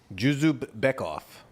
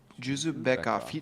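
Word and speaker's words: Uzur Dzhuzupbekov: oh yeah uh user juub beckov juup beckov juup I think DZ is like a j okay I've seen that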